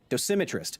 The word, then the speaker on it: dosimetrist: at first oh and slight correction on the emphasis on Sim in dosimetrist your character is spitting